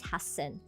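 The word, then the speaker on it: 八千: the same renaku and hassen is what I also said about the renaku. There is a double double consonant right there. So that is why it's hassen and um that's that's how it is.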